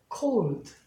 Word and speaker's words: cold: 원칙은 LD는 예를 들면 이렇게 있으면 얘를 발음 안 한단 말이에요. cold. 아까 I도 child. 그러니까 이 뒤 발음은 있는 듯 마는 듯, 할 듯 말 듯, 듯가 아니라 듯. 그러니까 cold.